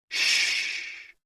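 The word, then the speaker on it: xu: sounds are X U pronounced like shhh with a deep sigh which is associated with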